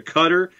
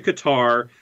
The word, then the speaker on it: Qatar: okay it's it's it's significantly closer to cutter than it is to qatar some golfies like to say gutter which is probably the easiest pronunciation for anyone who's not familiar with the cough sound in normal english it's cutter when talking to arabs you could say kuter or gutter depending on how they pronounce their coughs so shiva says it's